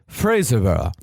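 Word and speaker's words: Fraserburgh: Yes, Fraserburg is, as Henry said, pronounced Fraserburg.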